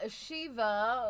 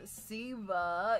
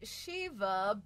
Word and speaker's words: Siva: All right, y'all, Shee-va or Siva, if I dare. Now, it is pronounced Shee-va, but to be honest